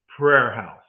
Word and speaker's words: praise house: It's called a praise out. If you look in the image, it's spelled P R A I S E, but actually the older singers like mine will say prayer house. They went there to pray. And so they didn't mean praise the Lord, praise the Lord.